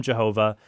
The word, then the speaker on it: Jehovah: By the way, they call him Jehovah because they combine the vowels for Adonai with the Hebrew tetragrammaton.